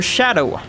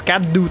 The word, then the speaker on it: Scadu: scadu tree I mean the scadu part the word is an Old English word for shadow so it's not pronounced scadu tree fragment but Shadow tree fragment sometimes I'm amazed that